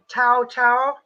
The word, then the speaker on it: Tao: How do you pronounce the name? Oh, T-A-O. Tao.